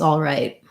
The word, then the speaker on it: all right: right all right it's all right typically we wouldn't um pronounce that t with a lot we wouldn't release it would just be a stop t all right it's all